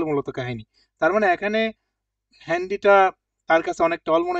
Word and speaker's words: Handy: Good, মান meet them হ্যান্ডি, হ্যান্ডি না, উচ্চারণটা হবে হ্যান্ডি, ঠিক আছে, হ্যান্ডি Handy নাক্রিস্টেন, Nachrichten schicken.